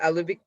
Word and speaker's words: Elivique: And how do you pronounce that? Elevique? Elevic. Elevic. Yeah.